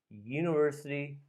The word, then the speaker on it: university: the next one a university lecture a you it sounds like you so let's say you sound so that's a consonant sound so use a let's